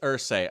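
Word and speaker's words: Irsay: It is Ersi. Okay. I always thought it was Ears for some reason. Okay. I appreciate that, honestly. That's crazy. I got his name wrong. Um, it is Ers. Okay, that makes more sense. I don't know why I've always said ears. It's like Robert Ersay, Jim Ers, Ers.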